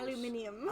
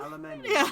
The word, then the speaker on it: Aluminium: 180 degrees says molten aluminum sounds good only if we say it like the English. Aluminium. Aluminium.